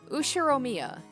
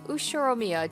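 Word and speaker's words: Ushiromiya: can you read it the first part is my family name uh usheromia that's a fairly plausible japanese pronunciation so far the problem is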